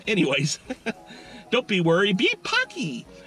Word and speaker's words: Paqui: don't be worried be punky punky rhymes with hockey it's an Aztec word